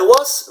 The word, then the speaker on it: was: I was, remember, no good, no good, okay? Remember, Americans love zzz, okay? It's a zzz sound, okay? It's I was, not I was, no was, okay?